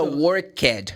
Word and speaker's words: worked: Porque esse ed, ele vai mudar para o tom de t, que não é nem T, que T é a letra, né?